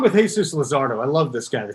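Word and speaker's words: Luzardo: power lin and lizardo is that how you pronounce his name lizardo yes yes lizardo those are the only three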